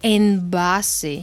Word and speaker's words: envase: B Benito basura basura pero si la B va en medio de la palabra suena muy suave como suave justamente como como envase envase mm ahora esto es